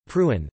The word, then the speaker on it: Preußen: Prussia, German, Pruen, pronounced PSN, listen, was a historically prominent German state